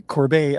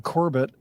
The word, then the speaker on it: Corbet: taught me how to correctly pronounce the direct of the brutalists uh name which is Brady Corbet I'd been saying Corbett so thank you Christopher